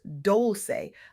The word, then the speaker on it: Dolce: I'm Dolce, pronounced Dolce, like sweet softness whispered in French, and I'm your guide